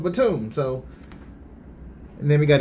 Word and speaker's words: Batum: the raptors nicolas Batum I said Batum earlier but somebody send me an email saying is pronounced platoon so and then we